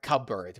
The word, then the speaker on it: cupboard: A shelf, a closet, a drawer, or a cupboard. Remember, it's not a cupboard, but a cupboard. Remember that. Cupboard. Cupboard. That's how we pronounce it.